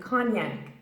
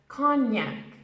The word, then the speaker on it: cognac: Janet's fur friends again named after the region conn-young now an Englishman pronounces as Kanye Kanye for example do you